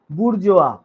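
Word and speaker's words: bourgeois: বুরজোয়া। যতই আইস আইএস থাকুক গুর্জিস এরকম কিছু উচ্চারণ কিন্তু নয়।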